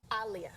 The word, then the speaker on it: Aaliyah: Starting y'all by saying her name wrong. Aaliyah. Oh, jeez. Like Muhammad Ali.